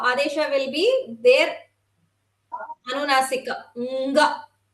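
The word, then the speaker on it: ङ: Nga. NGA. It is pronounced as NGA in English.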